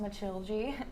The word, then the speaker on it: Matilde: yeah, so my character Matilda, pronounced Matilde in Portuguese.